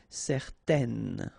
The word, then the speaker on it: certaine: and then they will produce this un sound. Okay, so it's nasal in your nose, un. Okay, if you add this at the end, then it will change the thing, and then you will pronounce it n. Okay, so the masculine form, certain, the feminine form, certaine.